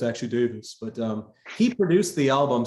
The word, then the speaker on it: Davies: The Beatles had a guy by the name of George Martin, whereas Ray Davies actually, or Davis as I think they pronounce it. Americans always I've been saying it wrong the last 20 years.